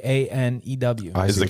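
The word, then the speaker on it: Kanew: he have a cologne canoe canoe canoe Jeff it's spelled k a n e w is the K silent is with Gary Cano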